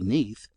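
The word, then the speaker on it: Nudd: is mentioned that nud in Welsh is pronounced simply Neath and not otherwise as for the fairy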